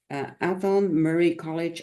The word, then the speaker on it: Athol Murray College: Athol, and Athol oh my gosh, sorry peeps, Athol Murray College of Notre Dame of Canada. Okay, you're back. I'm just mispronouncing some words while you were gone.